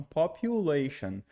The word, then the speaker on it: population: pronúncia aqui olha é o u a gente vai pronunciar como se fosse no alfabeto mesmo u e u então population reducing aqui também olha